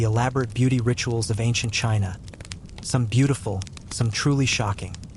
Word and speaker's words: qi: The main idea isqi, pronouncedq chi, which is the vital life force or energy that flows through everything, including our bodies.